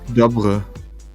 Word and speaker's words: Dobry: The Y in Dobry is kind of pronounced like the I in fish. Fish. So Dobry? it's Dobre.